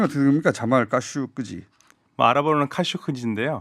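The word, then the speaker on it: Khashoggi: 자, 발음이 어떻게 됩니까? 자말 까슈끄지. 아랍어로는 카슈크지인데요. 카슈크지.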